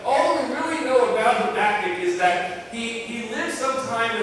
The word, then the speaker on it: Habakkuk: The ancient Israelites probably pronounced it Habakkuk, but we pronounce it Habakkuk.